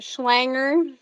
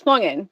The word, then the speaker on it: Schlungen: we get Schlanger, Schlangan, or Schlungen. So it's Schlungen. We get Schlangen.